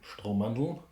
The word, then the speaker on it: Strohmandeln: Strohmandeln. Thank you. You can also, the Meidlinger L, the L in a certain district in Vienna gives it the extra Strohmandeln.